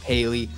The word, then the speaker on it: Paley: player driven universes welcome the legend himself Alex py what's up my man welcome to the show